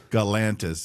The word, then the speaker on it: Galantis: Galantis like Atlantis Pantis kind of. It rhymes with Atlantis called Peanut Butter Jelly.